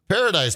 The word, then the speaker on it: Paradis: How do you say his last name? Uh like you said it. Paradise. Paradise. It's uh Paradise without the E on the end.